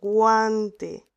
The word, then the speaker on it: guante: Sin embargo, en guante, guante sí pronunciamos la letra U porque después hay una A.